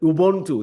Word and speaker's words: Ubuntu: we are enough that you brought up, that Ubuntu. Is that right? Is that how you pronounce it?